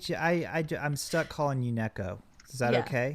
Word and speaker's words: NekoZ: the you know it's it's actually pronounced at the letter Z so I so I just added it on to yeah well that makes